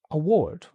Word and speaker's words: award: So, some words always take stress on the second syllable. Okay. Um, an example could be the word award. Oh, because we have the physical object award, but we also have the verb to award. Yeah, exactly. You can award someone an award. Yes. Um, and the stress does not change. It's always on that second syllable.